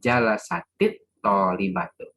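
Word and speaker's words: جلست الطالبة: Bacanya harus gini. Jalasatit tolibatu. Gitu. Jadi sukun, ya, bertemu dengan alif lam, maka dia harus kasroh.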